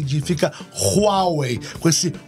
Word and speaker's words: Huawei: Could you tell us how to pronounce Huawei? Properly? Huawei.